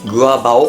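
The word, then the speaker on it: 割包: まして、割るパオと書いてグアバオっていうらしいんですよ。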